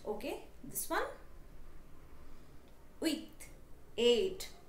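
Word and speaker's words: huit: thing with set is the P in set is silent okay this one wait eight right with H is again silent so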